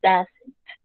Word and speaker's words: doesn't: Entonces, esta O y esta E suenan como si fuera una A y la forma correcta de pronunciarlo sería he doesn't.